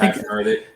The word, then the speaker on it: Hachimura: I can't pronounce this guy's name. Hachimura. Oh, Hachimura.